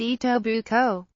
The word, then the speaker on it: Etobicoke: represented Etobicoke, pronounced EE-tow-buh-coe, as a member of